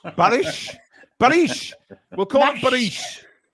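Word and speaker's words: Barış: Boris and Barry are very very similar, aren't they? Let's be honest. Barish.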